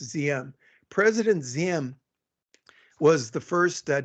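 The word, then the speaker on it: Diệm: you know president ziam spelled d-i-e-m pronounced zm president zim was the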